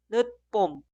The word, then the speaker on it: 늦봄: Y la segunda palabra se escribe así, pero suena 찾다, 찾다, 찾다. Siguiente, 늦봄, 늦봄, 늦봄.